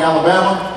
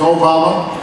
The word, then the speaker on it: Obama: they would call me Alabama or they would call me yo mama and I have to explain no no the Name's Obama my father is from